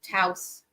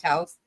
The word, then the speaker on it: Taos: But what was really cool is the wrong turn took us into Taos, New Mexico, which I had never heard of at the time.